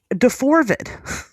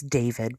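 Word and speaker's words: d4vd: It's not Deorvid, it's David. But it's you don't know. You don't know this Deorvid story. This David story. So Deorvid. So, it's David. It's spelled D number four V D.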